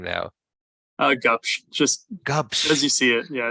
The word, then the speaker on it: Gubsch: say your last name now oh gosh just cups because you see it yeah it's it's it